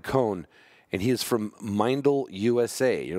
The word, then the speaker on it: Meindl: hell's mindel okay well if you know boots and you pronounced it wrong like I did for many years we always said Mendel because we don't know that the I before the E is an e and an i anyway so a good